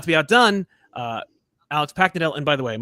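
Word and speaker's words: Paknadel: Yeah, no, it's phonetic. It's fine. It's just imagine you're sort of hammering a nail into wood with your forehead. It's very, very phonetic.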